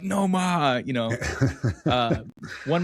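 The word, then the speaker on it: Nomar: Uh N O M A R.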